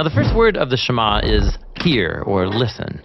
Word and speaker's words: Shema: Now, the first word of the Shema is hear or listen, which in Hebrew is pronounced Shema.